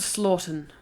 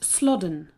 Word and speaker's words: Slaughden: "Old Slaughton." Joanne ducked her head back inside the car. "It's pronounced Slodden.